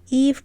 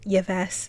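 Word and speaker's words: Yves: a girl called Eve Eve pronounced like Adam and Eve and not yees Eve's real name is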